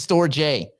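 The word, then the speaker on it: Storj: The company's pronounced storage, stupid. The token is Store J because there's no AGE, is there?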